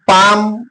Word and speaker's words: palm: Then L is come, palm, sam. Here you look at these 3 words. It is followed by M. L is followed by M. So L is silent here.